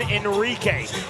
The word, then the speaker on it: Heinrich: You notice the differential between spelling and pronunciation. Corson's paternal grandfather emigrated to Paraguay from Germany. Thus the spelling, which looks like Heinrich, but he prefers the pronunciation Enrique.